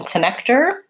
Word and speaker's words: connector: Connector, again, here's an OR spelling, but it has an ER sound. The stress in this word is on the middle syllable, and these two are short. So the O in the beginning says because it's unstressed. Looks like this in IPA with the schwa.